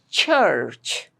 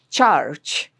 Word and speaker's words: church: Church. It's not charge, it's church. And be sure to pronounce the ch sound correctly.